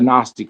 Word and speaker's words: Gnostic: It' be cra it be it became flesh according to the um you know a gnostic understanding of the Christianity of the Bible is silent. the G is silent in Gnostic.